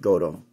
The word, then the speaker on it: Gotoh: that's how it's that's how it's spelled it's pronounced goto okay and the reason why i'm doing this